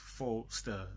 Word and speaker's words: Fostar: And one thing, I think the way I'm Foster with the A, not Foster with the E. Oh yeah, so basically it's just Foster, like a star.